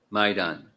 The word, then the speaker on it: maidan: at Cross maidan maid maidan emphasis on the first syllable Maan okay which was